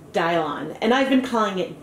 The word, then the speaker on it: Dylon: bit about the color apparently this dye I've been using is pronounced dial on and I've been plying